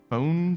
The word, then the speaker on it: phone: And that's also not how you spell phone phonetically, I don't think. Because E is silent in the first one. So you would actually use F-O with a long O symbol.